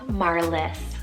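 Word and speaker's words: Marlys: the 20s 30s and 40s then we have marliss spell m-a-r-l-y-s marliss and this one means star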